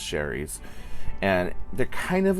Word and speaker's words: Shari's: I call it Shari's, but I think it's just pronounced Sherry's.